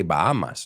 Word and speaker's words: Bahamas: You say Bahamas, no? La H es muda, it's a silent H, if I'm not mistaken. Well, just think of this. There are two that you have a silent H and we don't, and they're very close to each other. The Bahamas, como pijamas, right?